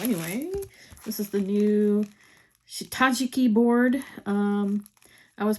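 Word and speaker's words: 下敷き: do that so anyway this is the new shitajiki board um I was pronouncing it wrong I was pronouncing it Shiki but that's apparently incorrect so if you ever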